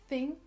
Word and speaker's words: thing: On essaie d'exagérer au début le TH pour bien comprendre comment ça marche. Thing, thing. Vous voyez bien la langue?